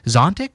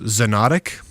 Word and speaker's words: Xonotic: It's not actually available for download yet, but it's Zontic, or how do you think you pronounce that? Xonotic. Xonotic.